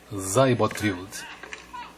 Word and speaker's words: Seyboth: do brasileiro, Thiago Seibotwild, porque Seibot foi a pronúncia que ele gravou para a ATP. No seu perfil tem o ícone para ouvir a pronúncia do nome dele, e ele falou Seibot ao invés de Seibot, portanto um S com um som de Z Enfim, Zybotrild.